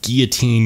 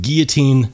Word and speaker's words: guillotine: it's not going to guillotine your finger off. And yes, the proper pronunciation is in fact guillotine, not guillotine, but we'll let that farce stand for now.